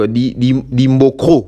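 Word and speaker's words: Dimbokro: Non, on prononce en côté ce qui Dimboko, ce qui donc Dimbocro.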